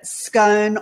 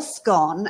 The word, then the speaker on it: scone: is it that it's it's either scone or scone and it depends where you come from so i noticed gary